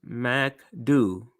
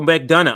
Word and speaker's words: McDonough: see how you say pronounce it here um pronounce Mac do oh McDonough I'm sorry McDonough I need to change the